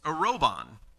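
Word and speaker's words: ἀρραβών: that was written that was used here was a robon it's actually pronounced in the original language not that i'm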